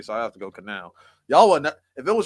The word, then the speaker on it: Kanao: Oh Kanai. That's Kanao, sorry.